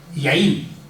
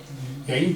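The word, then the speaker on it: יין: Yaín. Yaín, que se escribe Yod Yod Nun.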